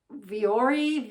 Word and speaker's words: Vuori: These are I think it's pronounced Vuori, V-U-O-R-I.